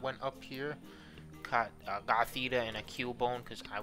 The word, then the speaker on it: Gothita: that index but yeah we caught US a Gothita that's how you say it so that's a